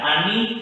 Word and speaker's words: ANI: Ada Ani, Agi, Asi. Bacanya Indonesia ya.